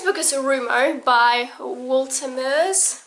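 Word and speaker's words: Walter Moers: is a rumor by walter murs or valtameres apparently you're supposed to pronounce it i'm sorry to my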